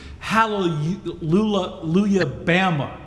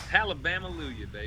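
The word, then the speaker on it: Hallelujah Baby: We've got, I guess it's one of your later ones, Hallelujah Bama, right? Did I say it right? Very close. Hallelujah, baby.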